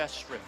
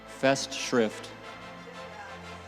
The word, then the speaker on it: Festschrift: A Festschrift. Oh. Say it again. Festschrift.